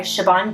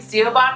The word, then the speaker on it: Siobhan: She has an Irish name, and that doesn't even make sense. Yeah. Siobhan. I've been saying Siobhan for about 15 years.